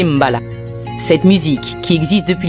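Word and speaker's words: mbalax: style tout particulier retient notre attention le malaxe prononcer Mbala cette musique qui existe depuis le début de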